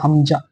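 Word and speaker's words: ء: এই উচ্চারণটা একটু ভালোভাবে লক্ষ্য করবে হামজা। উচ্চারণটা একটু তাড়াতাড়ি হবে হামজা।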